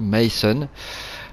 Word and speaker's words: Meißen: la précédente vidéo puisque ce fameux b ici face à ressembler à un b se prononce comme à double s voilà donc ça se dit mason donc je vais vous